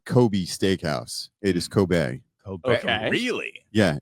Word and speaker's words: Kobe: Yeah, it's Coobe beef. Well, it's Coobe it. Okay. All right. Um, and uh, the E at the end is pronounced as an A.